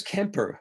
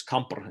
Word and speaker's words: Camper: midwife a polymath incredible busy man uh petrus kemper petrus camper actually uh i should call that's that's his that's where pronounced it gained his interest in wales when